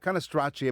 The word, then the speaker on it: Cannistraci: They say Cannistraci. I Americanize it. Cannistraci. Okay. All right. Yeah. But Cannistraci, because CI in Italian, there's no H in there. The H is silent.